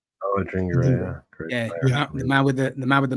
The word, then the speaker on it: Adingra: matchup with Toma and trying to get Simon Adingra. Is that how you pronounce his name? Oh, Adingra, yeah.